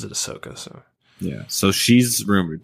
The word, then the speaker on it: Ahsoka: uh yeah on Clone Wars uh yeah Anakin pronounces it ahsoka so yeah so she's rumored to be in